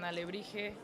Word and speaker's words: alebrije: ¿Cómo se pronuncia? se pronuncia alebrije.